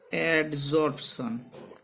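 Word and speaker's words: adsorption: এইখানটা কিন্তু খুব ইম্পর্টেন্ট ভাবে মনে রাখতে হবে যে অ্যাডজর্পশন, আর শোষণটা হচ্ছে অ্যাবজর্পশন। উচ্চারণগত একটা বিরাট ডিফারেন্স রয়েছে।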